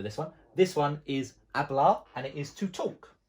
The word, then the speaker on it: hablar: is to talk and it's hablar the one spelled with the h but we can't hear the h okay the next one